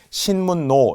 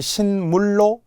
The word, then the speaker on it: 신문로: 뭐 이런 거 있듯이 신문노 이렇게 그 길 이름인데요 그래서 신문 플러스 로가 만나서 신로가 됩니다 그러니까 이제 니은니은이라서 그대로 신문의 니은 노도 니은을 쓰게 되는 거죠 발음을 잘못하면 신물로 L 그러면 안 된다는 거예 유화의 예외 신문